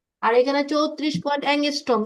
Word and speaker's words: অ্যাংস্ট্রম: Pronunciation করে অ্যাংস্ট্রম, অ্যাংস্ট্রম।